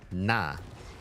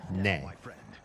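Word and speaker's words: 那: little heavier than uh in Mandarin you say that one and that is nah. It could also be pronounced colloquially as nay, but it it's often nah.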